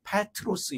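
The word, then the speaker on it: Πέτρος: 이름 베드로라는 이름을 주셨습니다 베드로의 헬라 발음이 페트로스 있니다 페트로스 반석이라는 뜻입니다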